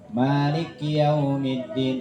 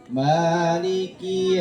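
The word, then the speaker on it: مالك يوم الدين: Maliki jangan Malik ya ada yang baca gitu kadang malikiumin udah Peng enaknya ba ya padahal di situ padahal laf huruf ee Li dan Ki Tidak ada huruf tasdidnya tidak ada tanda tasdidnya maka bacanya Harus Terpisah Maliki ya maiki yaumiddiniki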